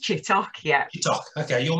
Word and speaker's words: Chittock: your name is chittick i think you're on a is it tutorial how do you pronounce it it's pronounced chit talk yet you talk okay